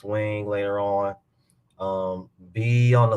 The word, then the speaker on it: Weng: Um, it's Wing. Wing is spelled WENG, and then Sharon Lapu.